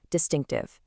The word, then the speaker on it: distinctive: Distinctive, an adjective. Make sure to clearly pronounce that CT consonant cluster in the middle.